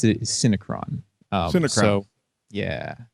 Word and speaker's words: Synecron: you pronounce the uh CD the way I pronounced it is syncron um syon so yeah it's it's a it's